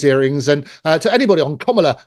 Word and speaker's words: Kamala: And to anybody on Kamala, that's how you pronounce her name, Kamala Harris's party, come forward and confess if that's the truth.